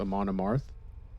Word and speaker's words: Amon Amarth: Someone told me that it's pronounced Amon Amarth, but I still sometimes forget.